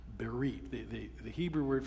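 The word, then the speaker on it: בְּרִית: In the Hebrew it's the word berit. With English letters you'd spell it be e r i t. Berite.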